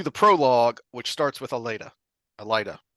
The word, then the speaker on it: Elaida: his Prelude to the prologue which starts with Elena Elida how do you pronounce it um it's Elida so I I like that when we get